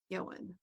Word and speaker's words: Ioan: He thought it was uh he thought it was pronounced Ian.